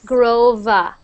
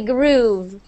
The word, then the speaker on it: groove: more time gra gr So when you say the V sound you don't need to say Grove it's actually groove groove groove Gro there